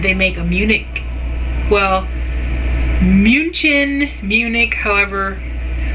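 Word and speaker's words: München: make a Munich well munin Munich however we all call it Munich Germany but the German pronunciation of it is munin and so I ordered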